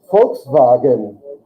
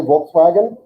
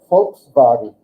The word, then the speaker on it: Volkswagen: V makes an F sound. Volks. Say it again. Volkswagen. That's the way Germans say this. We say Volkswagen, but Germans say Volkswagen.